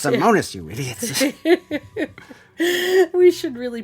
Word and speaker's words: Somenos: Samoas Lake? Somenos.